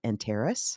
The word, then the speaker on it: Antares: founder of the, I'm going to get this pronounced wrong, Enterus. Yeah, that's right. Okay, and you're going to have to tell me what that means. I Enterus will.